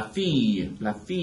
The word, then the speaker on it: fille: And la fille, the word for daughter, that's y, y, y, y, y sound like yellow.